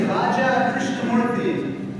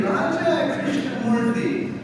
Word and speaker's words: Raja Krishnamoorthi: for office in Illinois I said hi my name is Raja Krishna morti and someone said to me Raja Krishna Mory where did you get